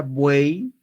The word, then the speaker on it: buey: Por lo tanto, mira, si yo tengo la palabra buey, a ver, pronuncia en tu casa buey, otra vez, vamos, buey. Oye, la Y suena como una I, ¿no?